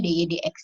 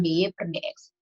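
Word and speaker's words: dy/dx: yang ini, DY DX, ini dibacanya DY DX ya, bukan DY per DX.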